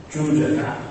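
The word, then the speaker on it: Jūjaka: interesting phenomenon of amulets, of Jujaga, as we would say, Nick pronunciation, or Chucho, Thai pronunciation, who in some cases is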